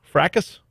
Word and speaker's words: fracas: heard the word before i think it's actually fracas but it's like ruckus could you could you